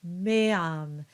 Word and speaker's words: meam: might, in some instances, put a bit more emphasis on the first of the two vowels, especially when they are at the beginning of the word, such as meam or tua.